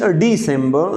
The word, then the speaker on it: December: In Urdu we should pronounce it December, but in English December, not December, December.